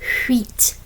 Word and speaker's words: huit: You're almost like it's squeezing your teeth and it's like a W sound. Huit, huit. Almost like our crop, the wheat.